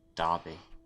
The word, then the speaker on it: Derby: Derby.